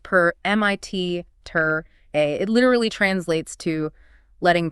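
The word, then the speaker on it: permittere: The word permission comes from the Latin root permitter, spelled P-E-R-M-I-T-T-E-R-E, but pronounced per-M-I-T-ter-A.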